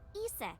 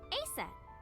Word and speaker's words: Aset: But in ancient Egyptian, it's pronounced closer to Iset or Aset.